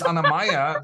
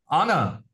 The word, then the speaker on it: Anamaya: You can tell people, actually, you're getting my name wrong. My name is Anamaya, not Anna.